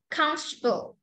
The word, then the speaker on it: comfortable: pronounced average different separate comfortable this one is pretty tricky so you need to practice comfortable comfortable so f after the m directly comfortable comfortable interesting interesting interest interesting